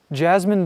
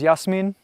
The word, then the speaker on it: Jasmin: Jasmine, don't go. Once again, guys, my Bosnian name is Yasmin, Jasmin. That's how you say it. That's exactly how it's spelled.